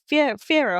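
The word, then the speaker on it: Fiyero: Well, I said his name wrong. Bach. Yeah. I cared about Fiero.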